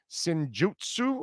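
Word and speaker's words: Senjutsu: out a double album sinjutsu i think is how it's pronounced i have no idea the the song writing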